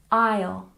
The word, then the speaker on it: aisle: So let's go back and double check our pronunciation. Number 1, aisle, aisle.